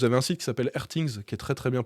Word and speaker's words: RTINGS: Vous avez un site qui s'appelle Airthings, qui est très très bien pour ça, où là ils font des tests avec des sondes.